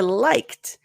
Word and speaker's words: liked: investment okay so for liked liked so you got the liked notice when you're practicing it perfectly it's going to sound more aspirated like but that's why we